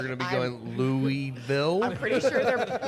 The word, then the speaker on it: Louisville: There's a group of men upstairs, and they stand up and meet Lauren, and then they're explaining how to pronounce Louisville.